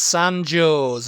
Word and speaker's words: San Jose: l e m Salem next one is San joo's San joo's okay yeah and you can't tell me any different it's San joo's okay right San Jose